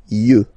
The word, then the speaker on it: yeux: Un œil, des yeux, okay? Don't pronounce the final X as usual.